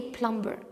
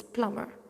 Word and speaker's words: plumber: this is plumber and take care here the B is silent I don't say plumber it's plumber ok postgraduates is the